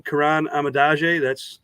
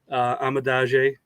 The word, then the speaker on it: Kiran Amegadjie: The pronunciation, Kiran Amegadjie, that's the name. That's how you pronounce it. So you were close. You were right there, Amegadjie, and glad to be here with you guys.